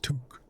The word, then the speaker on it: toque: Pronounced toque.